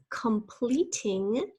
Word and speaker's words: completing: One is completing. Completing. I am completing my assignments now. Our first syllable is com, C-O-M. That O we call a schwa sound. We don't really say completing, we say completing.